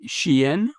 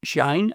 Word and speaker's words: Shein: consumers under the brands of Temu and Shein, or Shine, I believe it's pronounced.